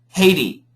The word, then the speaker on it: Haiti: We don't like the T. So in America we say Haiti. Haiti. Okay. Taiwan. Taiwan. Taiwan. Taiwan. Taiwan. Taiwan. Taiwan. No. Taiwan. No. Taiwan. Taiwan. That's better. Haiti and Taiwan.